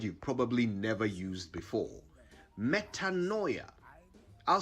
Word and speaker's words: metanoia: Here's a word you probably never used before: metanoia. I'll spell it: Metanoia.